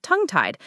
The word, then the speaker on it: tongue tied: So tongue tied. Notice the stress is pretty even on both words.